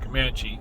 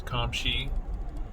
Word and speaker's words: Comptche: She says, I'm not the first one to see the name of this little community and say Comanche. It's not Comanche, it's Comptche. Apparently the name of the